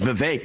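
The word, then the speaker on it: Vivek: open up I say my name's vake it rhymes with cake it ain't about thee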